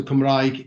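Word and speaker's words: Cymraeg: cumbria being the the country of wales so kamraig is is the welsh word for the welsh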